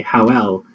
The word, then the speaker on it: Howl: and they were saying that they would enunciate Howl in a weird kind of way, so that would instead of just saying Howl, so it's a syllable, they would say Howell, so it would take up two syllables because that's how Howl is pronounced in Japanese, so it would match